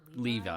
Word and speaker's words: Levi: true story um they could probably get Zack Levy pretty cheap now we don't want Zack Levy